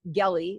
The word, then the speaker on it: Gelly: My name is Gelly. That's like Kelly with a hard G, Gelly.